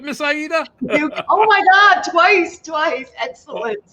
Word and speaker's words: Aida: Aida.